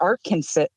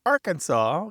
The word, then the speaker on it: Arkansas: But the name of Kansas came through English-speaking people, and the name of Arkansas came through French-speaking people. And so the French would not pronounce that final S.